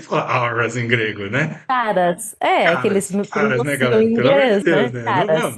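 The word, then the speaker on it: Karras: Harras, Harras, Aras, né? Harras, Charas, com K. com K. Tá, mas ele é grego, né? Não se fala Aras em grego, né? Caras, que eles Caras, me caras, né, pronunciam galera?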